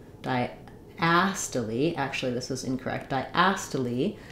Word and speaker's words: diastole: say the a sound diast actually this is incorrect diast like in black cat um so uh the first letter I says its name it's the I dip thong d d a and